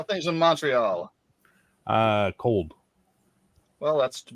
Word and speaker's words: Montreal: the Montreal is I'm in Montreal which is how we pronounce it but we can always tell when you're not from here when you say monreal we go how you